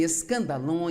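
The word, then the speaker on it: σκάνδαλον: A palavra ofensa vem de uma palavra grega, pronuncia-se escandalon.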